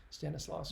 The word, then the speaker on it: Stanislaus: Stanislaus. Correct my pronunciation in the comments if you know it.